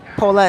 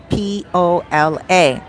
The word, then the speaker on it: Pola: Pola is spelled Pola. A lot of people call it Super Polo, and it's not polo. It's Pola. Super Pola.